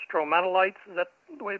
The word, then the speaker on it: stromatolites: Yeah, because I think the correct is the pronunciation stromatolites.